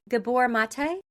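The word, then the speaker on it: Gabor Maté: Do you know, and I don't know if I'm going to say his name name right, Gabbor Mate?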